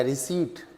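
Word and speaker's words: receipt: इसका जो है बिल नंबर या रिसीट, रिसीट बोलते हैं, रिसिप्ट नहीं बोलते, पी साइलेंट है, रिसीट नंबर, बिल नंबर या कैश मेमो का जो नंबर है वो ये है।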